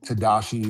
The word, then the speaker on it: Tadashi: It's It's Tadashi. It's spelled very weird.